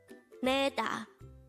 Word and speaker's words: 내다: hangout word number 249 this is pronounced as a two-syllable word the first syllable is ne second syllable is da pronounce it with me neda is an action word